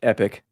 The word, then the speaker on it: epoch: That's pronounced epic.